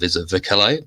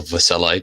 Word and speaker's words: Vercellae: Tacitus makes a really interesting observation at the end of the Battle of Vercellae, the last battle of the Cimbri fight against Marius, or Vercellae, depending how you want to pronounce it.